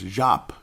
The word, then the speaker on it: Diop: And, of course, look at Josh Okogie and Katie Bates Jop, as we're pronouncing it correctly, folks. I can't believe how many people say Diop. Call him Jop. It's Jop.